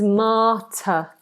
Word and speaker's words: martyr: We have spelt very peculiar, but this is martyr. Ma, open vowel, no R sound. Martyr. Schwa.